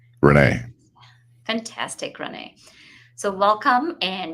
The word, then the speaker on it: Rene: and afternoon good morning so just to be sure am i pronouncing your name correctly perfectly actually renee fantastic renee so welcome